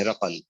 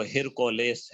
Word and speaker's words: ہرقل: یہ قیصر جو ہے اس کو ہرقل کہا جاتا ہے، ہرقل، اور یہ عربی تلفظ اس کا ہرقل ہے، اور اگر اس کا انگریزی تلفظ کریں تو ہرکولیس ہے.